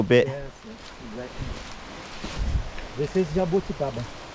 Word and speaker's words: jabuticaba: We say jabuticaba, just in Brazil. Okay. Yeah, I can't pronounce it. Jabuticaba. Jabuticaba. It's easy. Jabuticaba Yeah. is the fruit. If you say Oh, it's jabuti without the kaba, jabuti Jabuti. is a turtle.